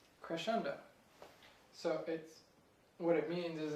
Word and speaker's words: crescendo: So it's actually pronounced crescendo. Crescendo.